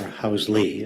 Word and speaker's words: Housel: Housel, Hausle, Housel, Okay, or Housley, as it's actually pronounced.